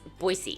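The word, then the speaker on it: Boise: our cities and landmarks it's boyy it's so boyy like boy and C nosy and then it's cellan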